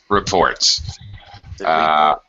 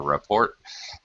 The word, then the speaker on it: report: Reports. Yeah. This is one of those words where when it's a noun, it's a report. A report. If it's a verb, then it's he needed to report.